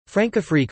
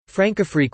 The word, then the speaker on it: Françafrique: Francafrique, French pronunciation, F-Safique, is France's relationship with its former African colonies.